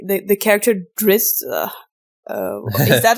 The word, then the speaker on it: Drizzt: Like the character Drizzt. Is that how you pronounce it? It's Drizzt.